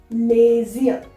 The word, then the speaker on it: les yeux: I am combining this S and Y and making a sound of Z. Les yeux. Les yeux. The same way you are going to pronounce, that is les yeux. Alright, not les yeux separately. It's like combined les yeux.